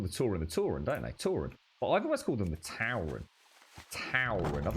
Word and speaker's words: Tauren: It's a Tau, rather than Tor. Tauren.